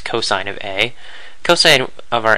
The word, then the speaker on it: cosine: function called cosine this we abbreviate cos but we still pronounce it as cosine of a coine of